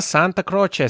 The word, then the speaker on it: Santacroce: on the show Sarah Santa Croce Sarah come Eva bene grazie ciao yeah so nice to have somebody pronounce my last name correctly yeah well I know it's a it has some Italian roots and I had to